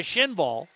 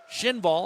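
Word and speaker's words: Kinnvall: And then it's flubbed by Schinval. Again, that K in Sweden, just like Oliver Shillington. Schinval, I apologize for a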